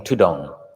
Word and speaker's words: Thudong: monks so dutanga became tudong the thai word the derivation or the way it's pronounced is tudon so forest monks began